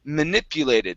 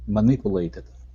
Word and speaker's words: manipulated: this word here is manipulated so our stress is right there manipulated manipulated okay now the U is going to be a Pew manipu manipulated manipulated that's it okay good uh